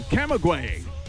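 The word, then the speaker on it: Camagüey: Glad to have you aboard the Fenix A320 and flying down to Camaguey. And that's the correct pronunciation because the computer done told me.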